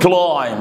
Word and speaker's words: climb: You should climb the stairs. طبعا البي لا تنطق.